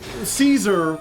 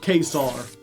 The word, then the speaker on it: Caesar: For example, Caesar was probably pronounced Kesar because there's no evidence